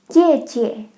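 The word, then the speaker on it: 姐: For all of these, it's the same syllable twice. Mama, Baba. For older sister, it's Jie.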